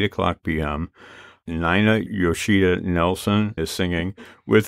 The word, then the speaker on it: Nina: It is NIGH-na, which is spelled N-I-N-A, Yoshida, Y-O-S-H-I-D-A, Nelsen, N-E-L-S-E-N, .com. Did I get that correct, NIGH-na? You got that correct. I've got one name, NIGH-na, that everyone pronounces Nina, and one name, Nelsen,